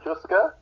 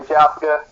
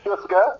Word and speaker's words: Jouska: It's pronounced Jouska, that's how you say it. Some people say Jouska, but it all means the same thing.